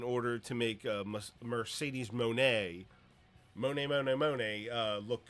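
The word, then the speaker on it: Moné: we can do it for I know it's Monae oh God okay so article reads as this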